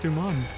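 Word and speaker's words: Deuman: This must be the patch where they added the Doom race. It's the mark of any Doom. Look, my eyes are even different colors, too. Excuse me. It's pronounced Duman.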